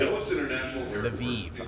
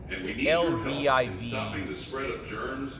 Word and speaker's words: Lviv: to the hospital at Lviv. I think I pronounced that right. I don't know. LVIV. That's it. LVIV. I think it's pronounced.